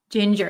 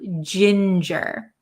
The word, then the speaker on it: ginger: word is Ginger Ginger Ginger it's a soft G sound Ginger okay very good let's